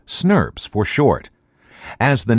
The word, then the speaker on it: snRNPs: complexes called small nuclear ribonucleoprotein particles or snrnps pronounced Smurf's for short as the name suggests snobs contain